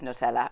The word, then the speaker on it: Nutella: Remember, we found out that's how you say it properly. Yeah, it's Nutella apparently.